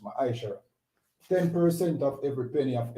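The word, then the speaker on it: מעשר: verse 8 to 10, means tenth in the Hebrew and is pronounced ma'ashara.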